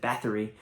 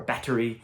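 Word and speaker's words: Báthory: article uh about countess elizabeth bathory or battery uh as as the characters pronounce it here um but bathory if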